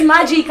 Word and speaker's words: Mbadika: Okay, but say it again. Magika. Magika. Like chica, Okay, so it's Magika on. Yes, Magika. But it's spelled Mbadika. Exactly, the M is silent.